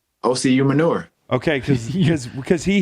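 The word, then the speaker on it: Osi Umenyiora: my name correctly hey how would you say oc human yours like manure yeah ocu manure okay because because because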